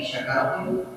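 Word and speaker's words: شكرتم: Tapi bagaimana kalau syin syin ini kita bacanya dengan sin? Nah, sin. Pakai syin kecil. Kalau tidak salah sakaro itu artinya mabuk.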